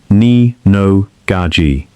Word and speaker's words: Nino Gaggi: That reputation reached Nino Gaggi, a Gambino capo, pronounced Nee-no Gah-gee.